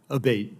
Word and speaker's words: Abate: I saying your name properly we've heard it pronounced three different ways today in the hearing aate Senator aate okay thank you um you had